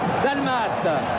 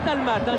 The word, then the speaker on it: Dalmat: Dalmat. D'ailleurs, on dit pas d'Almate. J'ai reçu une lettre très sympa de la Martinique Jean-Michel et on doit dire dalma sans prononcer le thé.